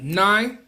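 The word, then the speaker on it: Niy: Um, Nye, I think that's how you say it.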